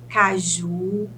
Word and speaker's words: caju: identificar a sílaba tônica em Caju a sílaba tônica é o ju é a última sílaba em sabonete penúltima sílaba